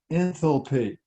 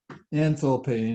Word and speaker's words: enthalpy: how the sophisticated people pronounce it okay they pronounce it enthalpy so if you go to caltech or harvard they're going to call it enthalpy and so you'll know what they're talking about